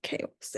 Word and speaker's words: chaos: a ch sound, but in this case it's chaos and you don't really hear the H.